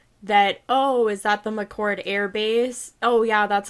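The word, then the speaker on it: McChord: also remarked that the i believe it's pronounced mccord there's like an air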